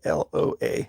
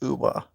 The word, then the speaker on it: Loa: thereof of an accent, people think I'm saying Moa and they think it's something Polynesian. But trust me, it's nothing Polynesian. It's actually Loa, Loa, which is sometimes pronounced Uwa or Uwe, which is Uwe.